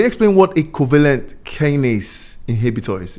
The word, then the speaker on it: kinase: So can you explain what a covalent kinase inhibitor is? Is it kinase or kinase? Kinase. Kinase. Yeah, we pronounce it.